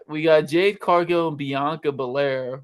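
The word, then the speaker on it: Bianca Belair: got Jade cargo and Bianca Bair or as Michael Co pronounces it banca Bair versus I'm G give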